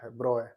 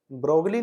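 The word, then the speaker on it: de Broglie: इसका उच्चारण है लुई द ब्रो. ब्रोय, ब्रोगली नहीं . इसे ब्रो कहो। या तो इसलिए कि वहाँ जी और एल चुप रहो।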